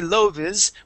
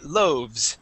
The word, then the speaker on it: loaves: um but loes okay we would not say loes we would say loaves please repeat that loaves